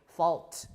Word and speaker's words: vault: the Latin source and Vault also there's an L so let's put the L back there there right and then in in pronunciation we also say Vault with an L Vault with an L